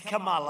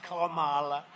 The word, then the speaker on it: Kamala: pronounce your name right it's kamala like a comma kamala and yet she pronounces